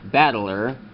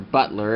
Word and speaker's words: Battler: But anyway, for the Orion Battler, or Butler, as it is very commonly mispronounced or something, you fold those out, and great, it's now very sturdy.